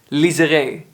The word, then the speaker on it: Liseré: This was obviously said in Dutch, and it had a French pronunciation, Liseré Straat, Liseré Street.